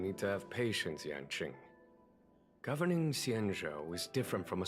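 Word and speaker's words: Yanqing: Speaking of which, Yangqing. Oh, it's actually pronounced Yaning. Okay.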